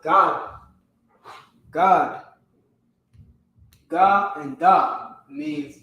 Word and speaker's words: Gad: Gad. Gad. All right, it's the same way it's spelled, pronounced God.